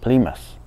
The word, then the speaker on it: Plymouth: 您比方说那个英国南边那两个港口城市 Portsmouth 和那个 Plymouth，您听听人家的标准发音 Portsmouth PlymouthPortsmouth, Plymouth。